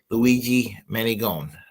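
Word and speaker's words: Luigi Mangione: luig man mag Magie Magie own Magie manone Luigi manone Luigi Manon there you go Luigi Manon I now can pronounce it better so anyway um tomorrow night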